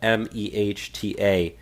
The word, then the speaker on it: Mehta: this one came from judge Mehta I believe that's how you pronounce the name it's a mah ta he's a DC district